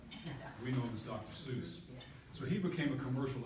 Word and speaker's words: Seuss: They're signed with all these made-up, strange names like Dr. Soyce. And so that's how he pronounced the name. That was his middle name. His name was Theodore Soyce Gazelle. We know him as Dr. Seuss.